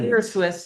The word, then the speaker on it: spirituous: Okay, And I think it's Spiritual. spirituous, not spiritual.